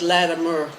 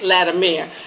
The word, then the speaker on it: Latimer: I do want you to know she's been training me to say George Latimer. I say Latimer, and I better not mess up. She's forewarned me, Latimer. Am I saying it right now? Yes. Okay. Mer. Make sure I understand. Mer. You all got it?